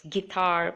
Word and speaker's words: guitar: gasp and colleague everywhere make sure you put the U and when you say it out loud make sure you don't pronounce it it's guitar biscuit and make sure